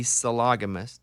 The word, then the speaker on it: sologamist: actually her instagram her social media is the solagamist is how you say it sologamous sophie loganist